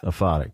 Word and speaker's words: aphotic: subtitled book of the and I think I'm pronouncing it right is it aphotic or aoic atic yeah aphotic okay well so I looked it up and